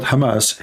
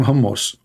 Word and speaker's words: Hamas: hamus hamus terrorist Trump he do not know how to say the word Hamas he called him hamos he just called Hamas hos Hamas what Hamas okay so yeah well